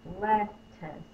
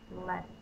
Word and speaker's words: lettuce: The T sound is said with the second syllable. Lettuce.